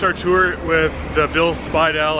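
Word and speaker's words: Bill Speidel: tour with the build Speidel I mispronounced it earlier but bill supply dolls underground tour and that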